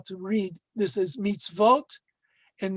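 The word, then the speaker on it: mitzvot: the plural form of mitzvah and it is pronounced not meets meets oat which you normally would think it would be but meets vote uh in modern hebrew spelling israeli spelling they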